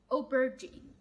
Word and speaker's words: aubergine: بص نطقها معايا. o ber g aubergine aubergine aubergine.